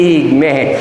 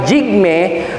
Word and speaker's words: Jigme: po ay si Prince jigme jigme yung pronunciation Hindi hig parang sinabi mo prinsipe Jun diabate di ba par Ganon hindi ah jigme ang tagapagmana ng trono